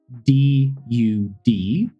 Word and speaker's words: dud: D-U-D, dud, versus D-U-D-E, dude.